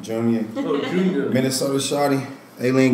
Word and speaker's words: Junya: My name is Junya. That's how you say it, Junya.